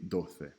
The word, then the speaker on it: doce: Clase is the only word here that should be underlined out of these 3 because Garcia and doce have that S as in Sally sound. They have the soft C. Clase, however, has the hard C.